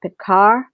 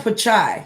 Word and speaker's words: Pichai: Google CEO Sundar, and excuse me if I pronounce this incorrectly. I want to say Pichai. Sundar Pichai.